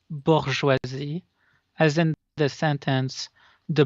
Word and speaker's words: bourgeoisie: I just wanted to tell you it's pronounced bourgeoisie, as in the sentence, the bourgeoisie will pay when the working folk will rise.